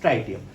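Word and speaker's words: tritium: इसको हम कहते हैं प्रोटियम, this is ड्यूटेरियम and this is ट्राइटियम। कुछ लोग इसे ट्रिटियम भी प्रोनाउंस करते हैं, ओके।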